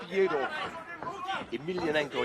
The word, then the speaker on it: Fyodor Emelianenko: Yeah, he really wants to fight Fyodor Emelianenko. Yeah, that's the way you pronounce it.